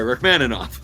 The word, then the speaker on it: Rachmaninoff: I was pronouncing it right. Rachmaninoff.